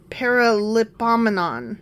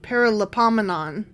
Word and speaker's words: Paralipomenon: But it's got a lot of syllables in it. Yeah, okay. Okay, it's a Paralipomenon. Paralipomenon.